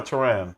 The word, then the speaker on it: Taryn: Is it Taryn or Taran? How do you say your name, man? Say it again. It's Taryn. You got it right.